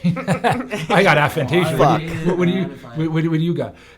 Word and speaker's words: aphantasia: Is that how you pronounce it? Aphantasia. Aphantasia, okay. So what I just actually literally found out today is I have a disorder called aphantasia, which sounds really cool, but it's nothing bad.